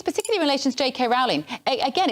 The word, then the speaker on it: Rowling: So what this story is not about, and it's Rowling, as in bowling, and that's how she pronounces her name, so revelation for everybody.